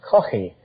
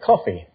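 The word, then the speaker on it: Caughey: That's spelled C-A-U-G-H-E-Y. In Ireland, we call that Coffey with a guttural, but most Americans can't say Coffey, so they say Coffey.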